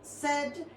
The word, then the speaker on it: said: Ya lo hemos puesto en pasado, su past simple es said y su past participle también es said. Ojo aquí con la pronunciación porque esta I se convierte en una E y este verbo, irregular